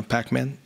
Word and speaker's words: PPACMAN: I should start by saying that PPACMAN, the first P is silent, you know, PPACMAN, like PPACMAN, but the PPACMAN without the extra P was already taken, so here we are.